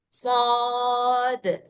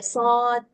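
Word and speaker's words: صاد: Harus besar kan karena dia kubra shod gitu. Jadi enggak boleh shad, enggak boleh ditelan sendiri. Ah, gitu.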